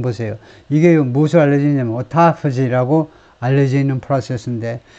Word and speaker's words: autophagy: Several researchers pointed to a process known as autophagy, autophagy라고 읽을 겁니다.